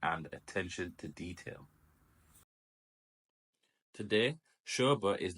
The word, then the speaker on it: Sobha: look at the history and Global footprint of sha and yes it is pronounced Sha Sha was founded in 1976 by